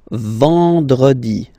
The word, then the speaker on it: vendredi: Then, E-N, nasal, and it's en, en. So remember, vendredi.